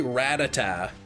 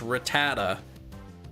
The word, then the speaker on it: Rattata: Yeah, I think I think a lot of people say Rayquaza like I say I say Ratata even though it's Rattata, but I I'll at least acknowledge that I'm pronouncing it incorrectly.